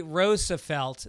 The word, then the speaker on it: Roosevelt: Phonetically, Roselt. The double O is a long O as in Dutch, not an H sound. Dutch is a long O. Duch. Roosevelt is an old Dutch name.